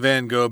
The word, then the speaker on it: van Gogh: I think so but we're gonna say Vincent van Gogh because we are Americans so that's our unit